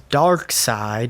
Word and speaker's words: Darkseid: So in Zack Snyder's Justice League, the big villain is Darkseid. It's spelled differently, but Darkseid, who's probably, like, if not the most powerful, one of the most powerful villains in the DC universe.